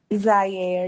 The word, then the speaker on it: Zaire: so pronounce it for me one more time. Zaire. You can call me Zai, okay, or.